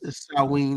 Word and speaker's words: Samhain: If I'm pronouncing that right, Samhain. No, it's Samhain. It's Samhain like that one.